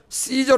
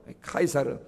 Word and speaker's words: 카이사르: 중간에가 이사라는 이름이 들어갑니다이 원래는 이게 케사르 시저 그죠 영어로는 저라고 읽어요 카이사르 그래서 율리우스 카이사르 아우구스티누스